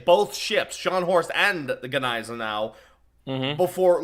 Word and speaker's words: Gneisenau: Is it pronounced Gneisenau, or is it pronounced Gneisenau? It's Gneisenau.